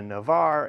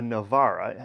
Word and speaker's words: Navarra: right we've got a navarre and a rioja well in spanish it's a navarra in french it's a navarre they swap the a